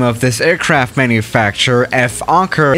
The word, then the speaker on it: Fokker: of this aircraft manufacturer, Fokker, is actually not pronounced Fokker, but you know, the actual pronunciation of this aircraft manufacturer sounds very similar to another English word that starts with F and ends with R, and we're not gonna